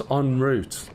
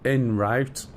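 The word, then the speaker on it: en route: I wish they'd pronounce on route properly. It's not in route. First of all, it's route and secondly, it's on. It's French. On route.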